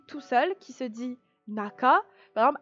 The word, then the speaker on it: 中: Donc, vous avez en face de vous le kanji qui veut dire intérieur et qui se prononce en lecture kun, naka, naka, l'intérieur, ou parfois uchi.